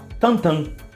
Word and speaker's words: Tintin: TIMTIM Eles escrevem lá tantan só que olha que coisa louca a pronúncia de Tim Tim imbelga é tanta então o desenho deveria